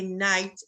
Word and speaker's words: knight: which are silent and this k a knight is a silent k yeah yeah you're next